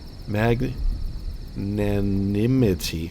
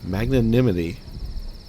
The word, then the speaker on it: magnanimity: magnaminity oh my god like magnanimous but with a whole bunch of extra syllables in another m may